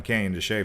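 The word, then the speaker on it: Canyon de Chelly: let me see if i can dial in canyon to shea for you oh man where is canyon shea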